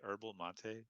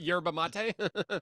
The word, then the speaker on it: yerba mate: Um, Herba. I want to say herbal mate. It kind of rhymes with that. Yerba mate.